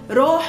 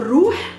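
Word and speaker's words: روح: Roh or ruh, the same meaning, but we pronounce it mostly as roh.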